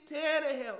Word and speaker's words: Tannehill: man's name right there when i say his name it's tana hill no don't say his